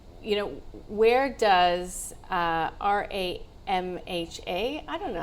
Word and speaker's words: RAMHA: Do we say it as the acronym? Yeah, so it's an ASX ticker. So, R A M H A is how to say it.